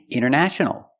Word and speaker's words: international: you have NT in the middle the t is silent other examples internet internet or Internet International International or International example the internet is international